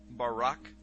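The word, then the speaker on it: בָּרָק: So lightning, or a flash of light, in Hebrew is pronounced barak or barak.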